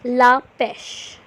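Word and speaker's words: la pêche: LA from bua's next is peach it is La pesh La pesh La pesh up next we have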